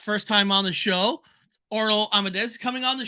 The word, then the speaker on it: Orlo: All right, before we start, am I saying your first name correctly, Orlo? Yeah, Orlo.